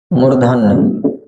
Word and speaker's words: मूर्धन्य: और मूर्धा से हमें मूर्धन्य बोलना है, मूर्धन्य, इसको मूर्धन्य बोलते हैं, मूर्धानी नहीं पढ़ेंगे।